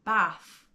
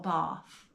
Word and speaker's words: Bath: would have to say bath or bath however you want to um pronounce it I went with my